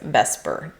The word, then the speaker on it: VSEPR: of those words and because you can't really pronounce veser very easily we call this vesper theory.